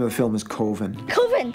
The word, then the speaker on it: Coven: COVEN. COVEN, that's the proper pronunciation. No. COVEN sounds like oven, man, and that's just, it doesn't work.